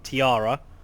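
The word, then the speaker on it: Taira: be playing as the Tyra now I've heard this pronounced a few different ways including Tiara but I'm going to stick with Tyra for now because it's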